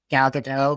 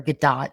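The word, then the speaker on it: Gadot: Galado for example or Gdat, which I think is really how you say her name.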